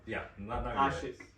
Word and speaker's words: Asheq: Asheq, did I get it right? I'm so sorry. It's pronounced as Asheq.